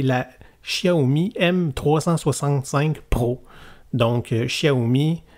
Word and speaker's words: Xiaomi: Xiaomi m365 pro donc Xiaomi vraiment prononcé à la chinoise avec un X au début c'est un modèle de